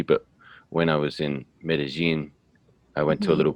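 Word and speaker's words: Medellín: in bogota then medi you can tell me the correct pronunciation or with the more of a g sound medellin that's right okay yeah um on the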